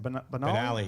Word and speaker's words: Banali: But also, another, not to get too much on a downer here, but since our last episode, Frankie Banali, how do I say his name? Banali, yeah.